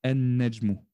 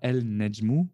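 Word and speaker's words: النجم: On ne dit pas el-Nejmu ou el-Rajulu ou el-Diku ou el-Talibu. Pourquoi?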